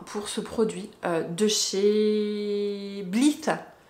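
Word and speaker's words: Blithe: Gros coup de cœur hein, pour ce produit de chez Bleath. Bleath. B-L-I-T-H-E. Bah oui, le T-H-E, ça se prononce... Bon, Bleath.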